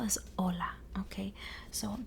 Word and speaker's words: hola: how to spell this hola okay so the word itself doesn't sound like it has an H because the H is silent okay so the H